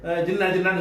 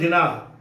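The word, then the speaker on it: Jinnah: அவருடைய பேர் வந்து உருதுக்காரன் வந்து ஜின்னான்னு சொல்ல மாட்டான், முகமது அலி ஜினாஹ். அவருடைய பேர் ஜினாஹ்ன்று இருந்ததை இவங்களுக்கு அந்த வார்த்தையை உச்சரிக்க தெரியாமல் என்ன பண்ணிட்டாங்க, ஜின்னாண்டு ஆக்கி விட்டாங்க.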